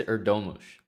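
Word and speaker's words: Erdoğmuş: What is the pronunciation now, Ahmad? Yez Erdomush.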